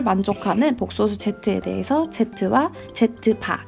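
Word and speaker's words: z̄: 등식 어쩌고저쩌고를 만족하는 복소수 z에 대해서 z와 z바, 이거 z바라고 읽어요.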